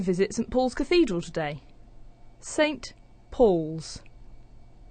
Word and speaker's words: Saint Paul's: thing first of all instead of saying saint with a strong pronunciation we're using the weak form sunt and then we have